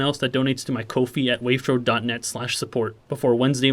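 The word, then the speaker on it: Ko-fi: of everyone that donated to my work via kofi yes that's how you say it i looked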